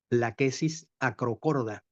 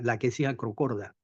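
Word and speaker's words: Lachesis acrochorda: habitaba nuestro terruño y que ahora se llama la quesis acrocorda. Así se pronuncia, la quesis acrocorda.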